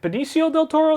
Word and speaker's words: Benicio del Toro: Poppins yondu and I think it's is it Benicio del Toro that's how you pronounce his name I believe yeah yeah but